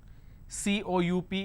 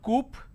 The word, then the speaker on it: coup: is government plurality determination derivatives apartment disagreement dislodge cou P is coup it's not coupe or cow it's cool isolation quarantine gesture lot of people